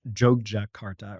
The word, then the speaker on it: Yogyakarta: the center of java the city called It's pronounced jog Jakarta or jugja for sure I worked so hard